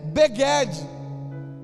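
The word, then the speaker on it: בגד: A outra palavra para vestimenta é beged. Significa beged, que é vestimenta. Ela se escreve na língua hebraica como uma outra palavra, que é baged. A escrita é a mesma, porque na língua hebraica,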